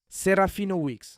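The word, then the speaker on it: Serafinowicz: Lui, la prononciation, c'est Weex. J'ai cherché parce qu'il était toujours dans les interviews, les gens disent toujours mal mon nom. ? Voilà. Serafina Weex, Serafina Weex, ici.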